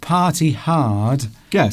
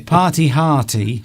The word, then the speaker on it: party hearty: Party hearty would rhyme, but Yeah. party hardy. That's okay. Party hardy. Because with the American accent, it's okay.